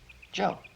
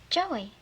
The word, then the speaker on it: Joe: J O E Joe. Joey. No, no, no, not Joey. Joe. The E silent. The E is silent, right?